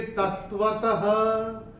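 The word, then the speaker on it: तत्त्वतः: और चौथे चरण की समाप्ति पे जो विसर्ग आ रहा है चरण की समाप्ति पे है, तो इसका उच्चारण केवल और केवल ह ही होगा। कश्चिन्मां वेत्ति तत्वतः, ये ऐसे करके आएगा।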